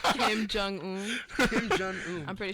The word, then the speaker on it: Kim Jong Un: You spoke about Kim Un. Kim Jong Un. Kim Jong Un. I'm pretty sure that's how you pronounce Yeah.